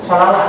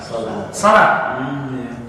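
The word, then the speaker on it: صلاة: Kalau orang yang tidak belajar Al-Quran dari lisan ke lisan, dia akan membacanya apa? Sholawat kan? Sholawat. Tapi bacanya benar bagaimana? Salat.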